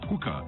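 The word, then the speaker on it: Huca: Hooker is spelled H-U-C-A.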